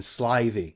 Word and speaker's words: slithy: The I in slithy is long as in writhe, and toves is pronounced so as to rhyme with groves.